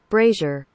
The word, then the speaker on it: brazier: fullscreen this bad boy brazier brace raiser look at that I was right it's Frazier with the B brazier brassiere is a